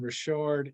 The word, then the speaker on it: Richard: two S's, two L's, and Richard is spelled just like Richard. I'm a Louisiana guy, so it's the French pronunciation.